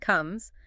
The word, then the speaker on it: come: Come can be tricky. The O often sounds like the in cup or some. KM. And the C is a K sound. Not like comb.